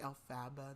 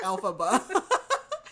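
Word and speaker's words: Elphaba: I've read wiked I was about to say I'm like Alaba that's not it I'm like it's alphaba so Elise is alphaba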